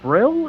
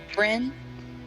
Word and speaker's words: Bryn: Is it Brill? Is how it's pronounced, right? Bryn Friend, my bad. is with N's, not L's.